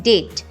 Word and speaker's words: debt: इसकी स्पेलिंग है DEBT बट B silent है, तो इसको पढ़ते हैं डेट, DEBT डेट, जिसका मतलब होता है कर्ज, उधार या फिर आभार।